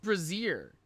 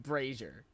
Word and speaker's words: brazier: What the I've always heard it pronounced Brazier. I've never heard it pronounced braier. What the Brazier.